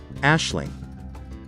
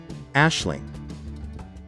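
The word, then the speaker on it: Aisling: clotha we're going to learn on how to pronounce this name ashley let's repeat ashling once again ashling how exactly do we pronounce this name shin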